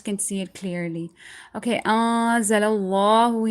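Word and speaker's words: أَنْزَلَ اللَّهُ: Okay, anzalallahu, here the standing fatha, you need to stretch it, not anzalallahu. That's really, really wrong.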